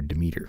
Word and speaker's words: Demeter: developer Peter Deiter or as I I'm going to call him Peter demer Peter demer yeah cuz it just it it's spelled that way that's how I'm going to say it on the evening of